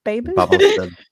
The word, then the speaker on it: Babel: Babel. Babel, I would say, because that's the tower, isn't it?